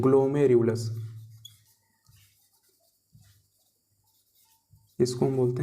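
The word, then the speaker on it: glomerulus: है, इसको बोलते हैं हम ग्लोमेरुलस, ठीक है, प्रोनाउंसिएशन करना बेटा आप जरूर सीख लेंगे, इसको हम बोलते हैं ग्लोमेरुलस, इसको हम बोलते हैं ग्लोमेरुलस, ठीक है।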